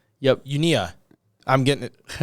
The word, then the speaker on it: Uinta: The T is silent. Una. Yep. Unia.